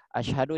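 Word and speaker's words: أشهد: Masyaallah ya gitu ya jadi Ashadu Alla ilahaillallah jangan Asyhadu allaah Nah itu enggak boleh ya kemudian Ashadu anna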